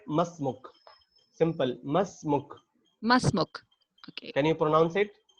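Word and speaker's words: ما اسمك: And if you want to ask other person his name, what is your name, so you need to say masmuk. Simple, masmuk. मसमुक। Okay. Can you pronounce it?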